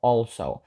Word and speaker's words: also: також живе з нами тут важливо звернути увагу на слово also тому що перша літера a не читається як е і також не читається як Ей вона читається як O also далі слово lives ми